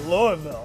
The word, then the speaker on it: Louisville: And you're saying it right, Louisville.